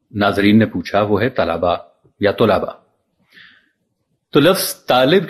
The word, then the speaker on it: طلبہ: منہ سے طلبا یا طلبا سن کر سر پیٹ لیتے ہیں. تو یاد رکھیے درست تلفظ طلبا ہے یا طلبا. گویا کہ دونوں الفاظ کے تلفظ میں لام پر زبر پڑھنا لازم ہے.